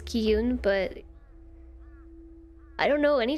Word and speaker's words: Qi Yun: i pronounce it wrong i did look up how to say the main character's name which was ki yoon but i don't know